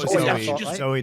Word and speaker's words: Zooey: the Mad part zooie is it zoie or Zoe zo Zoe deel yeah but it is spelled zooie isn't it which is